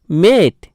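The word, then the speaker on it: mate: এর শেষে যদি ই আসে তাহলে কি হবে? এম এ টি ই মেট।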